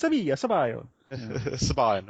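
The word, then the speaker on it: Sabayon: I was very, very happy, and then I moved distributions to How we pronounce this again? Sabion, is it, or Sabion? Sabion.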